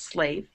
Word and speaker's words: slave: So this, if it was a word, it's not, but that would be Slav. And then when you add the E, it's slave.